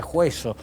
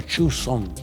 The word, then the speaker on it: Joseon: Ese fue el gran logro de la dinastía Joseon o Joseon, como también se lo puede pronunciar.